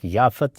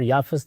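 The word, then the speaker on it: یافث: حام ہے اور ایک یافت۔ یافت اور یافس دونوں تلفظ ہیں، اسی طرح سم اور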